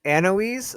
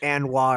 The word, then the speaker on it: Anoise: I was doing Anoise, like Eloise, but Anne instead. Anoise. Okay. Thank you. There's some people who are going like Anwa or something like that.